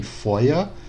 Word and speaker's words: Feuer: No alemão mais atual, seria como se fosse um A mais fraco. Então a gente tem Feuer, Feuerfrei, Spieluhr, Mutter.